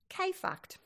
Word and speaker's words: KFKD: Writer Anne Lamott describes listening to your inner mean girl as being tuned into radio station KFKD, purposely pronounced K-fucked.